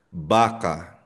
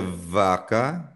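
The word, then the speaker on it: vaca: At again magkapareho ang tunog ng B at V. Parang be, parang bagalog. So for example, baka hindi siya vaka.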